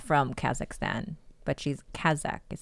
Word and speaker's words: Kazakh: Well, she's not from Kazakhstan, but she's Kazakh, is how you say it, right?